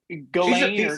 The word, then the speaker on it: Ghislaine: Yeah, it's like Ghislaine.